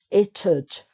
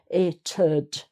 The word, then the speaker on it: it'd: Now this is a funny one, it'd. So you need an extra syllable here to get the D in. It'd, it'd.